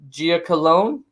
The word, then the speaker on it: Giacolone: Okay, I'm gonna Giacolone. Giacolone. Giacolone. As I tell everyone, rhymes with baloney.